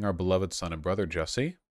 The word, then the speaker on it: Jussie: beloved son and brother jesse again rhymes with sassy was the victim of